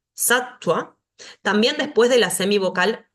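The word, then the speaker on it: sattva: un sonido largo yoga la Va que si está después de una consonante va a sonar como u satua satua también después de la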